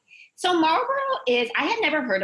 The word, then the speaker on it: Marlborough: right now say well it's pronounced like the cigarette company but it's spelled like the English way so Marlboro is I had never